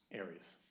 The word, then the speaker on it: ARES: How do you pronounce the acronym? ARES? ARES, in Lake Oswego.